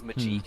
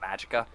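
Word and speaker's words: Magicka: I always referred to it as Majika instead of Magica.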